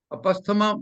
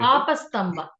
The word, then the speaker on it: Apastamba: Apasthama Mamba or Badhyamana, etc. Which of these rishis? You may correct my pronunciation later. Apastamba.